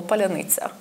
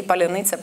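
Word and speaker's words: паляниця: But it's become a shibboleth word since the full-scale invasion because some mixture of consonants and vowels makes it unpronounceable for native Russian speakers. Russophone Ukrainians can say polyanitsa perfectly well.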